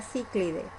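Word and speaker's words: Cichlidae: correcto es de pronunciar ciclide pero eh se escribe cide pero lo correcto es ciclide aquí en la aplicación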